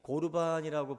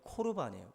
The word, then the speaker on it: 코르반: 우리가 이 고르반이라고 번역이 되어 있는데 정확하게 발음하면 이제 코르반이에요.